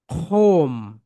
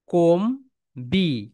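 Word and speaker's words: comb: Silent লেঠা, বি এর উচ্চারণ হবে না।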